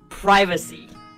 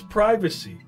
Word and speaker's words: privacy: privacy. American, it's privacy. British, privacy. By the way, is potato the same as tomato?